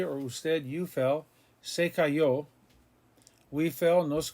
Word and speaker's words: cayó: He fell, se cayó, accent on the O.